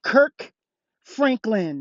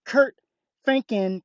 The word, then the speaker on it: Kirk Franklin: It's Kirk Franklin, not Kurt Franken.